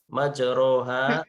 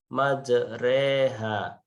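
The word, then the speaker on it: مَجْرٰىهَا: strapesium sel dibawah ini tulisannya adalah majroha majroha ini bacanya adalah majreha ya majroha menjadi majreha ayah baca nanti kamu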